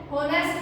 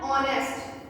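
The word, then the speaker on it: honest: ये होनेस्ट नहीं है, ये है ऑनेस्ट। It's right pronunciation is ऑनेस्ट। एच तो है तो एक कॉन्सोनेंट, बट जब इसको प्रोनाउंस करते हैं तो क्या साउंड आती है?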